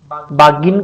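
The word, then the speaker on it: bargain: दूसरे का इन्होंने बागेन कर रखा है, बागिन कर रखा है, बैगिन कर रखा है, और बैगिन कर रखा है। तो इसका प्रोनाउंसिएशन बागिन है, तो ए ऑप्शन हो जाएगा।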